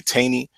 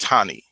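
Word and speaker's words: Taney: by a man named uh chief justice Roger Tani his name his name is actually pronounced Tani most people say teny but it's it's actually pronounced Tani Roger Tani and he in his opinion he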